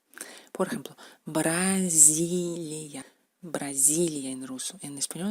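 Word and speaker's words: Бразилия: Por ejemplo, Brasilia. Brasilia en ruso. En español es Brasil. ¿Cómo se pronuncia esta letra en ruso?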